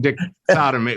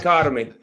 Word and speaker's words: dichotomy: Very interesting dicty. Whatever it is. Dichotomy. Dichotomy. Thank you.